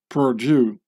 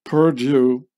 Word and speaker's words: Purdue: youth killer company is Purdue which sounds exactly as the French Perdue when pronounced by in English speaking person Purdue and Perdue with an